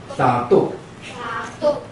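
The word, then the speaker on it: 沙豆: 阿美族称口簧叫沙豆，沙豆，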